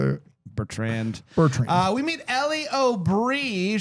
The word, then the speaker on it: Bertrand: Bertrand.